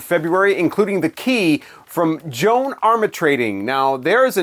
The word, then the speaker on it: Joan Armatrading: And so I actually had to watch a video interview with her just to know how to correctly pronounce her name, Joan Armatrading.